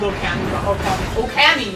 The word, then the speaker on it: Okami: Oh my god, I'm getting my old Okami. I said it wrong. Okami. Okami. Okami. Okami. What did you say? Yeah, long O sound.